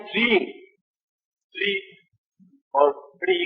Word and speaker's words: श्रीं: बाकी जो है छठा बीज आप लिखिए श्रेंग। श्र ऊपर मात्रा और बिंदी श्रेंग। श्रेंग का मतलब होता है कुबेर। श्रेंग श्रे हाँ स्पेलिंग लिख दीजिए SHREENG श्रेंग।